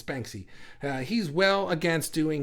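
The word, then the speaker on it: Banksy: can how do you say it beny it's Banky uh he's well against doing his art for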